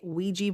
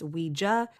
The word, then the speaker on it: Ouija: And I want to say real quick that here in America, we tend to say Ouija board when I know in other parts of the world it's Ouija. I think that's the actual correct pronunciation, but I'm stuck in